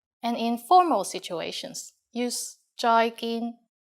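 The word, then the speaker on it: 再見: just like the English bye-bye with a Cantonese pronunciation bye bye and in formal situations use joyin Joy gin joyin means goodbye finally in kones we have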